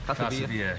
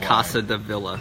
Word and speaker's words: Casa Villa: Is that pronounced that right? Casa Villa. Yeah. Okay. I was calling it Casa de Villa, and that's not correct.